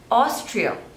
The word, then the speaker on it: Austria: Australia Australia next is Austria so there are two slavers and the stress is on the first label OS Trio Austria Austria